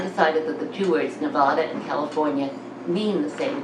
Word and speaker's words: Nevada: the word sounded hot and dry I brother Nevada that's how you say it and that's where